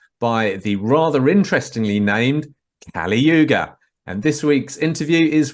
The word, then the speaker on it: Kali Yuga: okay so so let's start at the beginning Cali Yuga am I pronouncing that correctly yeah excellent excellent would you